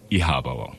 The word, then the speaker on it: iHaba: I believe in interpretation, but it's pronounced Ihaba.